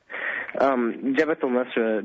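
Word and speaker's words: Jabhat al-Nusra: Jabhat al Nusra means the victorious front, and it that's literally how it translates.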